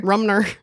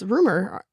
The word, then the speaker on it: Rumer: What did I call her? Rumner. It's Rumer. R-U-M-E-R. I can see the M. But you also added an N.